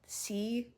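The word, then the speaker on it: sidhe: I never know how to pronounce this word. S I D H E. Uh C, I think.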